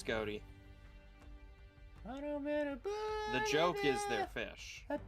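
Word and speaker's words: Ghoti: you love being banished are we pronouncing them goatee are you pronouncing them fish it's gouty the joke is their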